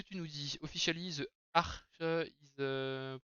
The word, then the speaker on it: Arch: Comme dans Arc, et pas comme dans Arc ou comme Archangel, ok. Très bien. Et bah voilà, on va prononcer ça Arch.